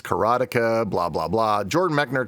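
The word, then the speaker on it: Karateka: And then, of course, there's people that say it's Karateica, blah blah blah. Jordan Mechner calls it Keratka. So Keratka is probably the correct way to pronounce it.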